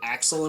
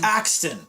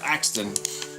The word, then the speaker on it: Axton: and I think it was it Axel in Borderlands 2? Was that his name? Axel. The Borderlands 2. Yeah, the soldier guy in that one. Axton. Axton. I was close. I fucked up a syllable. That's Axton.